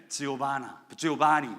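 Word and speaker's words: Giovanni: 지오바니 뭐 이러는데 한국 사람들은 이렇게 적어놨더라고요. 조반니. 영어로 여자 이름은 조반나. 근데 워낙 발음은 지오바니라고 이야기한답니다. 지오바니.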